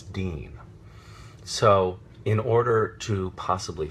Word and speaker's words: Dean: how is your name pronounced your character's name pronounce Jensen is it deian and Jensen will have to say no it's Dean so in order to possibly simplify things and